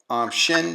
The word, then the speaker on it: Qin: Followed this massive confusion of the period of war in the states came the Qin Dynasty. It's spelled Qin.